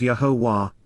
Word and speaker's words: Yahowah: in advance of it occurring, Yahowah, the proper pronunciation of Yahowah, our ElOah, God as directed in his Torah, teaching regarding his existence and our Shalom, restoration.